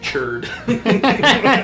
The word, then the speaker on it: Churd: It's 11 silent X's and then churd. C-H-U-R-D.